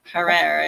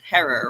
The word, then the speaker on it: Herrera: Terror rhymes with terror. That's what she always tells me. It's not Jack Herrera. It's Herrera rhymes with terror.